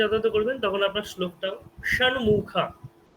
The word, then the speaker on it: ষণ্মুখ: করবেন, তখন আপনার শ্লোকটাও ষণ্মুখা। আপনি যদি সন্মুখ, সন্মুখ বললে হবে না, বলতে হবে ষণ্মুখ, ষণ্মুখ, ষট, ষষ্ঠ, ষষ্ঠ,